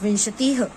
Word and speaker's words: विंशतिः: पंच, षट, सप्त, अष्ट, नवदश, एकादश, द्वादश, त्रयोदश, चतुर्दश, पंचदश, षोडश, सप्तदश, अष्टादश, नवदश, विंशतिः। इसका प्रोनाउंसिएशन याद रखिए, विंशतिः।